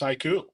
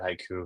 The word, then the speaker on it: HYCU: product marketing here at Haiku. Very very excited about this. And for those who don't know who Haiku is or maybe are wondering how do you pronounce that? Is it a Japanese poem?